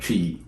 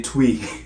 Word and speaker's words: Twi: going to talk a little bit about about tree yes tree so tree I know even the